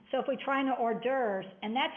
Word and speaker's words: hors d'oeuvres: You don't say d'oeuvres. There's no R in d'oeuvres.